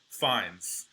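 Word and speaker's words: Fiennes: No, apparently his name is actually pronounced Rafe as in almost like R AF. Fines.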